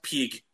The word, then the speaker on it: pg: pieces of gold no because they voice act that game it's pronounced Pig I'm like what the